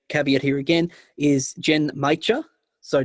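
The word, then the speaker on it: genmaicha: caveat here again is jen maicha so not mucha but g-e-n-m-a-i-c-h-a oh yeah right jen maicha um so japanese brian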